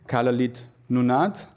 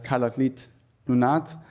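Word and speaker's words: Kalaallit Nunaat: the traditional Greenlandic language, I hope I do pronounce it correctly, Kalalit Nunat.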